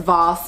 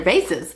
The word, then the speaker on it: vase: going to call them i know people who are fancy pronounce the term as vos but i'm not fancy i'm actually kind of ghetto so therefore we're just going to call these what they are because they're vases so recently i picked